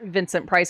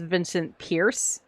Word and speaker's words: Vincent Price: a video recently of somebody uh mispronouncing Vincent Price is Vincent Pierce and I'm like huh